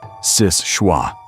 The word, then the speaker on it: Seul Choix: Locals pronounce it Sis-shwa, which trips up almost everyone who tries to read it cold, because the name isn't English.